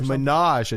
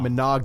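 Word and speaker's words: ménage: pronunciation of oh yeah go French yeah it's menage why not not manag yeah yeah yeah yeah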